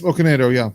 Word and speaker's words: Okonedo: And I hope I don't mispronounce this. Sophie Okonedo. Close. Okonedo, yeah.